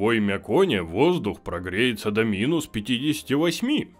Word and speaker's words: Оймякон: Или Оймяконе. Я не знаю, как правильно. Сейчас загуглю. Оймякон, все правильно я с первого раза прочитал. Хе-хей. Зато теперь мы все знаем, как правильно произносится Оймякон.